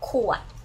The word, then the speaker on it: ขวด: So the bottle in Thai we say ขวด, okay? Pronoun ขวดwith the low tone ขวดขอไข่ okay can you see this ขอไข่ and then ขวด and the ขวด so can I have one